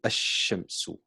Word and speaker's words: الشمس: And the reason why these are called ash-shams is because the word, the letter sheen, we don't pronounce the alif, we say ash-shamsu, ash-shamsu.